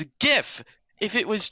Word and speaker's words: GIF: leave god could come down and say it's pronounced jif and i'll say all right jod what if you say john it's a gif if it was jif like the peanut butter it'd